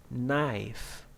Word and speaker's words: knife: Pneumonia, psychology, T in a T way, Christmas, castle, k, knife, no, knock, okay?